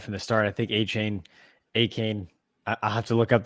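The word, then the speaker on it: Achane: This time it's A-Chain. Yeah. I think he actually changed the way he wants it pronounced. There was like a something released. I think it's A-Can now, or A-Cane. So something like that.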